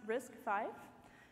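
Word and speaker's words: RISC-V: all right so first things first risk five pronounced risk five is a free and open instruction set architecture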